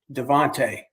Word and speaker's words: Devantier: and Lieutenant De I called him Devantier. Uh although he pronounced it Devonte, he he didn't look like he was from, you know, France to me. So, but we had a great relationship.